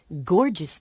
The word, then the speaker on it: gorgeous: gun gap gas garden Gorgeous George was a wrestler the first G in gorgeous makes a hard sound the second G makes a soft G sound like a J sound the first G in